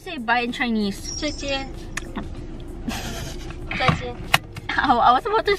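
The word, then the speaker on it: 再见: Zaijian. I was about to say shishi. What? Zaijian.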